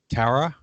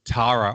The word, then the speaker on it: Tara: to get used to pronouncing your name as Tara it's Tara over here with a long I so so Tara I